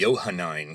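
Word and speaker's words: Johannine: In biblical scholarship, the biggest old controversy is called the Yohanine controversy. And Yohanine is spelled J O H A N I N E.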